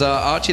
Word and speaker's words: Archie: It says Aki, but it's pronounced Archie. I've been told, I've been informed by the Taiwanese community, this is the way to pronounce it.